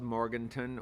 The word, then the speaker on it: Morganton: Spelled Morganton or Morgantown?